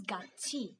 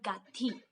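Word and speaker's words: 같이: If you have this word gat and e, it becomes gatchi, not gatti.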